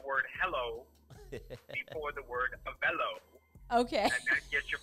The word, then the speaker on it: Avelo: they use the word hello for the word avello okay get your pronunciation right so if you you use the two together of the hello avello so it is a Bellow a fellow okay